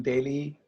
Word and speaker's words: Daly: It's pronounced Daly, right? Yeah. And we're just learning the players in the economy.